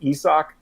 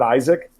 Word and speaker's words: Isaac: know last year that his name was pronounced a sock and not Isaac no okay at the